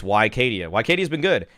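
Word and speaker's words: Wicadia: and by the way I am pronouncing it the way that Turkish people apparently want it pronounced and he wants to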